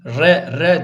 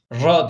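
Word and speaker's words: ر: olduğunu bilesiniz Normalde kalındır ra harfi re re diye okunmaz ra diye okunur Bir de şu da şu hata da yapılıyor R diye de okunmaz yani dil titreşim halindeyken bu e harf çıkartılması bu doğru değildir ra ra olabildiğince dili titretmeden bu harfi kalın bir şekilde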